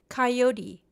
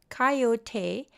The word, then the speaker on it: coyote: Coyote pronounced coyote and in some regions coyote is a native Mexican